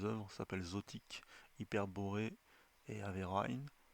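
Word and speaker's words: Averoigne: volume de ses œuvres s'appelle Zotique Hyperbor et Averine Averign se prononce et c'est ça vient même de sortir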